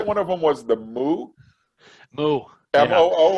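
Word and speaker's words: Moo: of them was the mu no m-o-o-o like a cow yes m-o-o yeah uh yeah it's about as bad as you know i wish i was joking um rhymes with boo it's a wisconsin cliche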